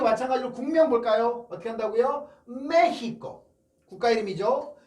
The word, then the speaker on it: México: 특히나 제일 어려운 게 이 3번 발음이 아닐까 싶습니다. 자, 그리고 마찬가지로 국명 볼까요? 어떻게 한다고요? 메히코.